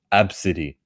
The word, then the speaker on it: Abcde: usually celebrities do that stupid thing there's a name ABCDEE and you pronounce it Absidy.